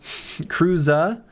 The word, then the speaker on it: Kruza: Hard Z in your name, Krusa. Is that not what I'm saying? Oh, Cruza like Cruz Krua. Hold up. Kruza Kruza complex.